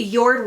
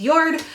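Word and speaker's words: Jord: sale i sold a yard watch it's spelled j-o-r-d but i believe it's pronounced yard um it was actually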